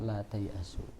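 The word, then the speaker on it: لا تيأسوا: jamaknya taiasu la taiasu dan itu disambung tulisannya bukan tai dan asu bukan tapi tai asu jadi salah kalau me apa pengucapannya Ya, karena enggak dipisah itu satu apa? Satu kata yang tidak terpisah. La tayasu lagian itu bahasa Arab bukan bahasa bukan bahasa Indonesia bukan bahasa la tayasu miruhillah.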